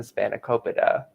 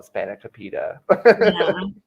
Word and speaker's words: spanakopita: to say it yeah because i called hispanic topeda like no that's how you do it it's okay it's a